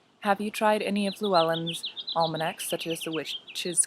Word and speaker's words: Llewellyn: So before continuing, the word, I've heard a lot of discussion that people have sometimes on how to pronounce Llewellyn. The pronunciation that I just used right there is the American pronunciation, but it is a Welsh word, and so if one was to pronounce it in Welsh, it would be Llewellyn. Actually, let me get close so you can hear. So the double L sound is a, so it's like making an L and then blowing through it.